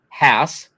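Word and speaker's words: Haas: Why would we all put something as odd as a double A in the word that sounds like Hass? Rhymes with pass, spelled like pass, right?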